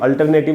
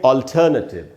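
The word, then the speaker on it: alternative: अल्टरनेटिव नहीं बोलना है दोस्तों, क्या पढ़ेंगे? ऑल्टरनेटिव।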